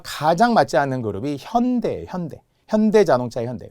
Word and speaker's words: 현대: 맞지 않은 그룹이 현대 현대 현대 자동차의 현대 외국에서는 현대라고 읽지 않거든요 현다이 현다이 읽어요 마치 무슨 일본 그룹